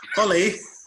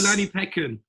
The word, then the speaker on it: Olanipekin: We've got Nadeem Perera, and I pronounced that. Perera is correct. Okay. And I got Olanipekin.